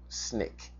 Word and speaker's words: SNCC: some information on it the acronym is SNCC often pronounced often pronounced snake right s n i c k was one of the